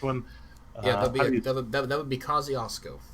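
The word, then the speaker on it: Kosciusko: say the last one yeah that would be kosciuszko kosciuszko kosciuszko all right i got it never heard of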